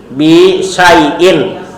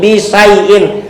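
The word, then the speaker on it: بِشَيْءٍ: benda yang dimajrurkan dibaca Bacanya i bisaiin tidak makai alif lam bukan bisai bukan tapi bisyaiin.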